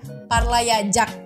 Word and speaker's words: parlayacak: bacanya yde zeder kemudian tuh parlayacak bukan parlayacak ya parlayajak karena c jadi J jadi untuk bait ketiga